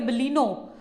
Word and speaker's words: बलेनो: जैसे कि ब्रीजा नहीं होती, ब्रेजा होती है, बलीनो नहीं होती, बलेनो होती है।